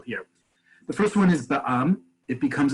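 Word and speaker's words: בע״מ: But when you see Ba'am and it's pronounced Ba'am, as I wrote here as the transliteration, you know that's a for-profit company.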